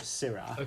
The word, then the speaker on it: Syrah: So in Australia, they call the variety Shiraz, and pretty much in the rest of the world, they call it Syrah, which is spelled Syrah. So different spelling, different pronunciation, but the same grape variety.